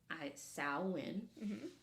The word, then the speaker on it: Samhain: those people so Sinn is a Gaelic word pronounced sain um it is a pagan religious Festival originating